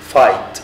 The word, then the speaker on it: fight: يعني الرسم break يكسر fight الجي والاتش سايلنت هنا يحارب point two يشير